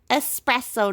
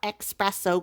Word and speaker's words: espresso: also have vanilla espresso espresso not expresso guys usually i pronounce it espresso but it's espresso i don't i don't know what's wrong with me uh fuzzy navel bird